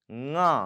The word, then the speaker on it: ङ: ङ.